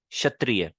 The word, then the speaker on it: क्षत्रिय: और अगर आप इसको सबसे पहले ले आओगे वर्ड में, तो ये जो क की साउंड होती है ये काइंड ऑफ साइलेंट हो जाती है, जैसे क्षत्रिय, क्षितिज। इन दो वर्ड्स में भी एक क पहले आ रहा है लेकिन हल्का सा साइलेंट हो गया।